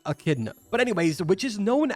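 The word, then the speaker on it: Echidna: find a pronunciation because if I was going to pronounce that I would say a chida but it's actually a kidna but anyways which is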